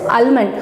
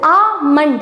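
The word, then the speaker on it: almond: ஸோ அல்மண்ட் அப்படின்றத நீங்கள் எப்படி ப்ரொனவுன்ஸ் பண்ணோம் அப்படின்னா இந்த எல்லை விட்டுடுங்க. ஸோ விட்டுட்டு ஆமண்ட் அப்படின்னு சொல்லுங்க.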